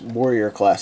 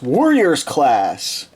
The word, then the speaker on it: Warriors class: It's not even Warrior class. I've been pronouncing it wrong this whole time as Warrior class. It's Warriors class because they're warriors.